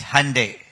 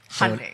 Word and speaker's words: Hyundai: What's the correct pronunciation? So it's very simple. It's Hyundai. Hyundai.